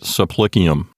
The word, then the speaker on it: supplicium: but instead of subplicium the b at the end of sub because it's parked right next to a p it gets sort of absorbed into the sound of the p and so the b turns into a p we call that assimilation so it's really subplicium but with the b turned into a p and you get supplicium and that's a thing